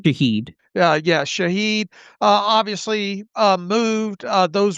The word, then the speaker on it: Shaheed: Meyers obviously the Saints wide receiver Rashid How do you pronounce his last name? Shaheed.